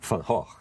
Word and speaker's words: Van Gogh: You call Van Gogh, we call Van Gogh. I know you do, I know. And in the play, you learn that his real name, which he says nobody can pronounce, is Van Gogh.